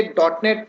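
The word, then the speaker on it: .NET: सबसे फर्स्ट हम इंट्रोडक्शन लेते हैं सी के एक्चुअली में ये डॉट नेट टेक्नोलॉजी है क्या। सो इट्स a pronounce as अ डॉट नेट और ये एक सॉफ्टवेयर का फ्रेमवर्क है जिसका डेवलपिंग माइक्रोसॉफ्ट ने किया हुआ है।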